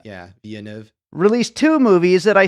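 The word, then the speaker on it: Villeneuve: pronounce his name Josh I think it's vianu it's French French Canadian yeah vianu released two movies that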